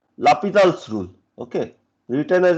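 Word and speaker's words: L'Hôpital: you don't Remember there is a rule called Lapidal's rule. Okay. Written as L hospital's rule pronounced as Lapal's rule.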